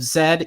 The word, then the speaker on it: Z: The film is directed by James Gray, who had the opportunity to direct The Lost City of Zed. Yes, that's that's the correct pronunciation.